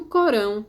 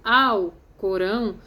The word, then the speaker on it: Alcorão: prestar homenagem ala então tanto Corão como Alcorão o livro sagrado que conta a história do islamismo e as duas pronúncias estão corretas Corão livro sagrado quando eu falo Alcorão conheci ao na frente